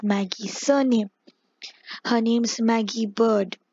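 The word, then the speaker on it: Byrd: Her name's Maggie Bird. B-Y-R-D is pronounced as bird, apparently. I remember because in the beginning of the game I was playing it as like beard the beard for some reason.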